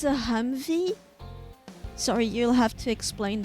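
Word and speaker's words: Humvee: Actually, actually, HMMV wy pronounced Humvey.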